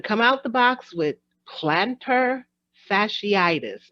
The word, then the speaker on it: plantar fasciitis: I'm going to come out the box with plantar fasciitis. Am I saying it correctly? Yes, you are. Plantar fasciitis, which All is basically right.